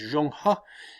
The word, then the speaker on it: Zheng He: exploration of a man by the name of Zheng He whose real pronunciation is Zhang hua and Zhang Hao goes out under the guidance